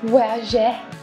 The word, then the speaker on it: Voyageur: I'm pronouncing it like how we used to do it in our French classes, Voyageur.